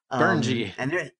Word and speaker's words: Brynje: Another thing I'm looking at is from a company called Brainia, and I actually typed that into Google to make sure I was pronouncing it correctly. Burnji.